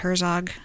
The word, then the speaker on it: Herzog: it there's someone you should know is Jared Herzog yes spelled like it sounds Herzog h er zo g